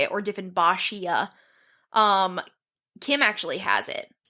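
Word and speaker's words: Dieffenbachia: are just straight up jerk plants for example defin bakia um this is a very common house plant defin bakia yeah at least I'm pretty sure that's how you say it or defin bashia um Kim actually has it at home it's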